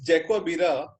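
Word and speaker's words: Jarque-Bera: it Jake wa birra test so in this Jaguar birra R is silent and it it is not dark Avira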